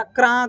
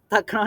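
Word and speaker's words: तक्रम्: गुरुजी ने सिखाया हमको, इनका उच्चारण तक्रम नहीं करना, तक्रा, थोड़ा आ का उच्चारण लाना है, क्या करना है, आ का उच्चारण लाना है, तक्रा करना है।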